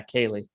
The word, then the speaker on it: Cayley: Yeah, it's basically just pronounced with a K. Yeah, Cayley.